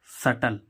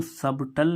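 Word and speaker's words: subtle: ही हम इसमें देखें सटल एस यू बी टी एल ई सटल सटल means होता है जटिल इसको सबटल नहीं पढ़ेंगे क्या नहीं पढ़ेंगे सबटल क्योंकि बी के बाद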